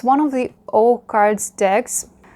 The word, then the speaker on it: OH Cards: It's one of the O cards decks. I guess it's pronounced O cards in English, and I would like